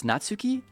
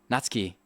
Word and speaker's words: Natsuki: a favor, Joe, and pronounce Natsuki in the same Natsuk. Oh, in the same silas. Natski. Oh, Natsuki. Natski. Is that how you say Natski? Saskuke. Natski. Am I doing it right now?